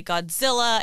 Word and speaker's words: Godzilla: about the name because in the anglicized version we say godzilla and you have heard